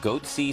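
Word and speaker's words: Goatse: and they're getting the goatsy picture they're called goatsy security is that I pronouncing that correctly yeah that's right we're analyzing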